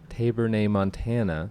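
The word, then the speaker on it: Tabernaemontana: Tabernae montana. Tabernae montana.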